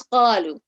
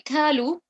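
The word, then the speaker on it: قالوا: The next one is qalu. So if I say kalu, kalu, pronounce the qaf in a heavy elevated way, then I have changed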